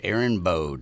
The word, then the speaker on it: Erin Bode: How do you say that? Erin Bode? Erin Bode. This does not bode well for us if we get it wrong.